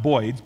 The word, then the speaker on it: boids: 1986 which he called boids for Birds but pronounced boids b i DS which simulates flocking Behavior Uh